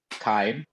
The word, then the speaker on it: Kime: And is it pronounced Kime or Kaim or? Kime.